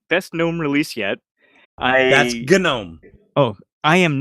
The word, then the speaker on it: GNOME: He says Josh also says that he pronounces it Damon. Oh, don't. But anyway, Josh says best GNOME release yet. That's GNOME.